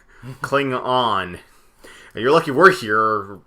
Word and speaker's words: Klingon: Like, you couldn't even pronounce the name right. It's like, it's a Klingnot. Klingon.